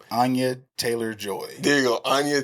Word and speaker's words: Anya: No, I was calling her Anna Joy Taylor. Yeah. And someone was like, her name is Anya. I said the Y is silent.